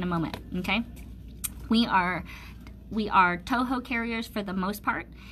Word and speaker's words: Toho: Okay, we are Toho carriers. Okay, so that is spelled T-O-H-O.